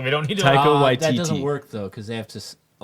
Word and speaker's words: Taika Waititi: That actor's name, whatever, White Titty. Taika Waititi, and you have to pronounce it correctly. Yeah, Okay, fine. correctly. We don't need to. Taika Waititi.